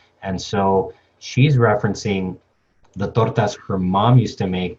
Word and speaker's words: torta: Now, Callie as Alex references tortis, which is basically a mispronunciation of the word torta. Uh, Maybe in Spanish, in the English, with the English sound, it's torta.